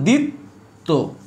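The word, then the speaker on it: দ্বিত্ব: লিখেছি, দিত্ব, এই দেখো, তাহলে শুরুটা উচ্চারণ হবে না, শুধু দি হবে, এ হচ্ছে দি, আর এটা পরে আসে ডাবল হয়ে যাবে, তাহলে এ হচ্ছে দিত্ব, এ হচ্ছে ডাবল, দেখতে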